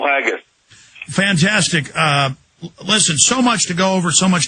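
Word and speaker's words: Haggis: often chilling eye opener hope I'm pronouncing that Paul haggus I think I'm pronouncing that right uh Mr Miller it is it's Paul haggus fantastic uh listen so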